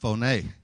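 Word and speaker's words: φωνή: Actually, it's pronounced phoné.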